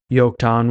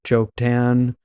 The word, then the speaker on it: Joktan: sons pelig and joktan and so I kind of pronounced it in between a j and a y there because earlier I realized when I was reading in I said yokon without even thinking about it but most people would probably look at it and just pronounce it joke tan or something along those lines and I wanted to